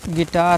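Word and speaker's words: guitar: करना है हमको फिर गिटार है जी यू आई टी ए आर यू हटा दीजिए क्या बचेगा गिटार यू हटा दीजिए क्या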